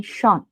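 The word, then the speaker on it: schon: And without umlaut also we have a particle, like here I have given shon, simply shon.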